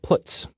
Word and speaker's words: puts: They are pronounced: printf, putchar, and puts.